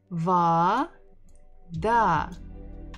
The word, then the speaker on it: вода: V, v, va, da, vada. We stress the final syllable.